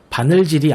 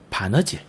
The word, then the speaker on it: 바느질: 여기 보는 것처럼 달다리가 아닌 다다리, 활살이 아닌 화살, 바늘질이 아닌 바느질. 모두 발음의 편의성과 명료성을 위해 이러한 음운 변동이 일어났다고 보면 되겠죠.